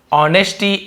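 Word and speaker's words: honesty: ली जैसे बनाया था ऑनेस्टी एस साइलेंट होगा ना एच को हम यहां पे पढ़ेंगे नहीं लिखेंगे जरूर लेकिन ऑनेस्टी ईमानदारी से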